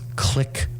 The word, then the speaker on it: Clique: public relations person she has a company called click pr but it's spelled c-l-i-q-u-e p-r's in public relations you can